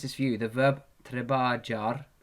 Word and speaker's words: trabajar: The verb trabajar, the verb trabajar is pronounced like this. Don't pronounce it like that. That's not what it is. The jim equals the kha in this word.